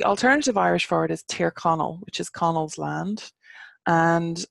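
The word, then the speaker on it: Tír Chonaill: goal so the alternative irish for it is ter Connell which is Connells land and what Donegal means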